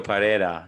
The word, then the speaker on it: Pereira: all saying it wrong we're all saying it wrong okay you kind of say it like paella i have no idea